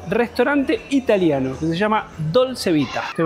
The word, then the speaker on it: Dolce Vita: Hoy vamos a ir al restaurante italiano que se llama Dolcevita. ¿Te pronuncia así?